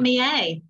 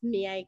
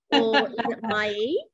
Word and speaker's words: Miei: year so tell me a little bit about me a thank you so much for having me sean and you did definitely pronounce me a correctly and um it's it means my in